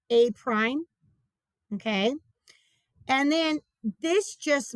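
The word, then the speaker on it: A′: That's pronounced A prime.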